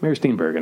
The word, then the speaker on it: Mary Steenburgen: It's with Mary Steenburgen. Mary Steenburgen, that's how you pronounce her name.